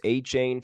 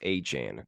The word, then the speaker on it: Achane: Devon aan now it's it's been pronounced a chain for a while the rookie running back for the Dolphins but I guess he came out after the game says it's pronounced aan Devon aan rookie running